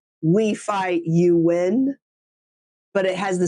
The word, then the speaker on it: Nguyen: And Win is the Nguyen.